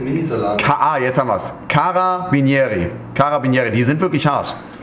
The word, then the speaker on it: Carabinieri: Wird das ausgesprochen? Caba... Caba... Cabinieri? Caba... Cabinieri ist ein Minisalat. Jetzt haben wir es. Carabinieri.